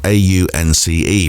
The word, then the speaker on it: Aunce: The artist is called Aunce, and that is spelled A-U-N-C-E, pronounced Aunce.